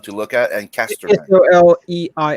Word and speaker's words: Soleil: Soleil, right? How do I pronounce it? It's spelled Soleil. Is that it? Soleil, yeah.